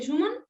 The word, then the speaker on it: Schumann: En el capítulo de Schumann, ¿lo pronuncio bien? ¿Se dice Schumann?